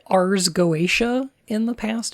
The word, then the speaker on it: Goetia: I said Getica? I think that's fine. You can do that if you want. But I think it's Goetia.